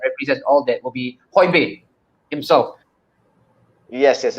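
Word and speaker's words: Højbjerg: all that will be hoibein himself yes yes it's pronounced whole beer yeah okay yeah as in holding a beer whole beer yeah oh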